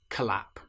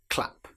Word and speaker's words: clap: If we're using the word clap, we certainly don't want to say collap. It's clap.